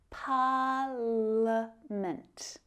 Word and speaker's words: parliament: Now the word parliament has a silent I as well, parliament.